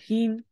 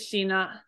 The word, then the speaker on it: 品: So this is pronounced as heen when it's with another kanji. So you have a kanji here and then heen. So actually, if this is with like for example, scalf, this actually is shina. And I apologize for that. I made you do heen like 20 times last week, but I mean 2 days ago. But it would be pronounced by shina in that context.